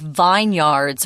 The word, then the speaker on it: vineyard: Vineyard. Yard isn't even pronounced correctly. So vineyard, be careful with that one.